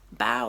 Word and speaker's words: bao: perfect bow if you notice here the word bow is spelled b-a-o which is different from when um